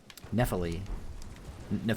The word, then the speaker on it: Nepheli: Nepheli, that's how it's pronounced.